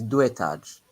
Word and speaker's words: deux étages: X doesn't change the pronunciation, Giovanni. Oh. So it's deux étages.